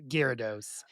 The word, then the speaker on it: Gyarados: everybody needs a Gyarados.